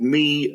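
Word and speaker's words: Mie: There's something called MI radiation which is spelled IE E.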